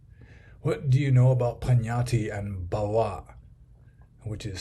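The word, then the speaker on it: paññatti: he has it spelled Pannatti, which would be pronounced Pannatti, but I assume the N's should have squiggles over the top, so it would be Pannatti. What do you know about Pannatti and Bhava, which is spelled Bhava?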